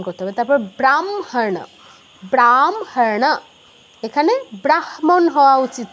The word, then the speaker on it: ব্রাহ্ম: আচ্ছা যেটা বলছিলাম হ এর সাথে যদি কোন অনুনাসিক ধ্বনি থাকে অনুনাসিক ধ্বনিটা আগে উচ্চারণ করতে হবে। যেমন তিন নাম্বারটা দেখুন হ সংযুক্ত উচ্চারণ হওয়া উচিত ছিল ব্রাহ্ম ব্রাহ্ম এরকম হওয়া উচিত ছিল।